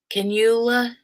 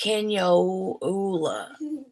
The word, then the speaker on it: cannula: Cannula? Not far at all. Message delivered promptly. So I'd say then the friend has already given the bartender the eye. Let us know how that goes, Grace. Pronounced Canyola.